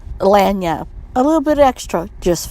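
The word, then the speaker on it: lagniappe: The word is pronounced lanyap.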